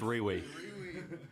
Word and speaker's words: Rewe: It's pronounced Riwi. What is that? Rewe. That's Riwi.